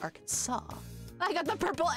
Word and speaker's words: Arkansas: explain because it's English why is it spelled Arkansas if it's pronounced Arkansas I got the purple